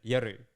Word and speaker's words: Yoru: His name, everyone calls him Yoru, right? Which is the English pronunciation. You know, Scar had a problem with this too. Yeah, because it's sanctimonious. Japanese people pronounce it yuru.